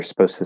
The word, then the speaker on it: supposed to: say supposed to say notice i'm also saying they're supposed to say supposed to say i'm actually not saying the d or the t there i'm just going from the s to the uh they're supposed to say